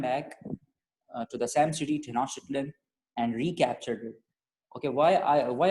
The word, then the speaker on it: Tenochtitlan: Tenochtitlan, but they attacked Tenoch. Say like this. Say like this. Wait. First, correct the pronunciation. Tenochtitlan.